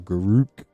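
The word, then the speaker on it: Garruk: that or we got Garrick anyway or Guruk depending on how you say it.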